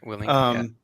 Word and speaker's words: Willink: Tim, you got me a book a while back by Jocko Willink. Is that how you pronounce his last name? Yeah, Willink.